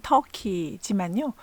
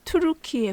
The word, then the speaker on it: Türkiye: 투르키예와 시리아의 심각한 지진 피해가 남의 일 같지 않은데요. 태평양의 불의 고리를 바로 옆 나라에 끼고 있는 우리나라로서는 더더욱 그렇죠. 투르키의 영어 표기와 발음은 여전히 터키지만요. 공식 국가명은 투르키예 공화국입니다.